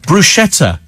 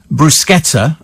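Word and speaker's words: bruschetta: that can't speak properly brushetta is pronounced brusketa and not brushetta it's Italian and the H H hardens the sea says Diana in Hearn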